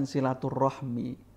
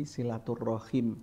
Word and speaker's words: silaturrahim: dalam banyak hadis itu bukan silaturahmi bacanya tapi silaturrahim rahim kalau silaturahmi itu berarti sudah diserap oleh bahasa Indonesia kalau mbak Fin baca